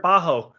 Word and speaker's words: Bajjo: you need to win i'm sorry was it bajo thank you yeah and that's another thing i